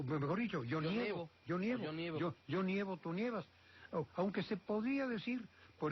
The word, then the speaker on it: nieva: O tú lo nievas, él no nieva. Así que siempre que el acento caiga en el radical, sí, pues pronuncie usted ye en lugar de e, de ne.